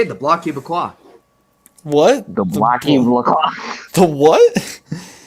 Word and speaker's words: Bloc Québécois: That's how you say it, the Bloc Québécois.